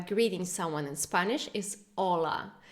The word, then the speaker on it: hola: just a quick reminder we don't pronounce Ace this letter in Spanish so it's not hola but hola get in touch with